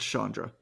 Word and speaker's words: Sandra: without an H it's it's spelled Sandra but it's pronounced Shandra it'sa what it is